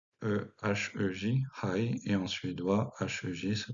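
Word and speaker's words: hej: En danois, mais avec un J, H-E-J, Hei, et en suédois, H-E-J se prononce, attention, Hei.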